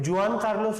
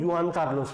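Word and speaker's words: Juan Carlos: कई जगह जुआन कार्लोस नहीं, युआन कार्लोस भी बोला जाता है, वो प्रोनाउंसिएशन है अलग अलग जगह के अपने हिसाब से।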